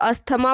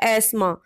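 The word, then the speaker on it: asthma: Screen पर दिखाई दे रहे वर्ड को ज़्यादातर लोग अस्थमा बोलते हैं, जो कि गलत है। इसकी सही प्रोनंसिएशन होती है एस्मा।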